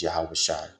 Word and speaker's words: Yahawashi: Jesus translates into Joshua the correct name or the correct way to say the name in The Paleo Hebrew the ancient Hebrew is yahawashi means he delivers for the testimony of